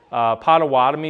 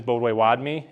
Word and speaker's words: Potawatomi: Potawatomi is not even what our actual name is. Bodway-Wadmi is it, but it was just the Anglicization of it.